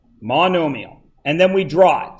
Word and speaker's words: monomial: second 2's squared that is a monomial okay mondo meal it's pronounced monomial and then we draw it does everybody understand